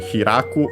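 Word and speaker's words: 開く: Uh by the way, hiaku accented au which is the intransitive one for to open uh should be unacented I think.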